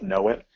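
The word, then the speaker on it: Gnowit: in Canada is a service called Know It uh it's relatively new um that's spelled GN wi t uh which does a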